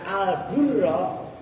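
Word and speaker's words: البُرّ: Itu kalau kalian baca al-burra maknanya gandum. Kalau kamu bacanya al-barra daratan. Kalau kamu bacanya al-birra kebajikan. Nah, kan yang paling pas al-burra.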